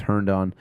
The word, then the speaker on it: Herndon: I think this is the pronunciation. Last time I tried to pronounce it, I didn't get it right, but I think it's Herndon.